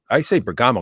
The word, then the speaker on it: Bergamo: I say Bergamo because I'm Italian, but it's Bergamo. Yeah, right? I've been hearing Bergamo, but yeah, I have too. I like Bergamo. I think it should be Bergamo.